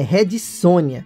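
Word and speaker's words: Red Sonja: rede sônia e sim é rede sônia se pronuncia assim apesar de se escrever ré de som já tá explicado que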